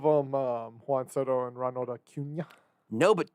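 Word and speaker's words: Acuña: By the way, Aaron Ladd just tweeted Ronald Acuna Jr.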